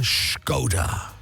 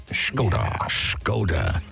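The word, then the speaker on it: Škoda: with our show sponsor, Skoda. Skoda. Yes. We've got to say it like that because that's how you say it. Yeah. So it's not Skoda. We're not trying to be Sean Connery.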